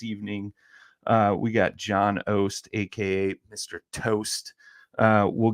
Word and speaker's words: Oast: it just because like your last name is ost is it am i pronouncing that right yeah it's not that's exactly